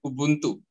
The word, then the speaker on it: Ubuntu: It is Ubuntu Eat, right? So actually, it's pronounced as Ubuntu. Ubuntu. Okay. Yes. So it's an African term.